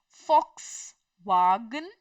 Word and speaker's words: Volkswagen: m way they b m way they are Fox wagon Fox wagon they are Ferrari their Ferrari their